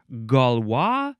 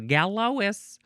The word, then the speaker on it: Galois: It is galwa theory or I guess it would be gal. Galwa or galwa. Emphasize either syllable. The first word is capital g a l o i s. It looks like galois. My grandma's name was Lois. So she's a gallowis. No. Uh galwa theory noun from 1893.